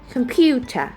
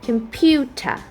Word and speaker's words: computer: that we know nowaday computer computer computer so now you know that the word computer are the primary stress fall into the second syllable Pew which received the